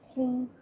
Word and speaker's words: rond: On ne prononcera ni le C, ni le D, ni le S, ni le T, ni le P à la fin des mots. Par exemple, on dira loup, blanc, rond, dent.